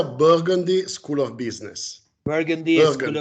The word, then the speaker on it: Burgundy: Se pronuncia Burgundy School of Business.